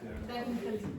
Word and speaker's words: technically: Technically. Technically. Technic. So don't pronounce the A. So just say tech.